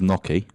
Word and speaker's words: gnocchi: Got my guy who likes his gnocchi. Yeah. That's how you pronounce it, gnocchi.